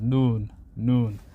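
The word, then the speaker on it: نون: The letter is noon. That's the name of the letter, noon. And how the closest equivalent is N. Like N, and the sound is N, like noon.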